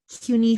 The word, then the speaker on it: CUNY: so it's CUNY Hunter College.